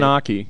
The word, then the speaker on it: oche: I never knew it was called an oche. O-C-H-E. There's a good word for friend's word. Yeah, it's called an oche.